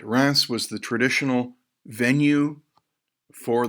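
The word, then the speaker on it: Reims: a coronation ceremony for the Delphi all right Rass was the traditional venue for the coronation of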